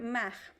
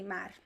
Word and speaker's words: mar: sometimes like the word mach ma means the see sometimes i say ma sometimes i say mar because my accent is